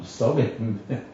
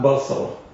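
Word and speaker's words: בשרים: No, Besarim. Besarim means it's a shnitana. Besar, not basar.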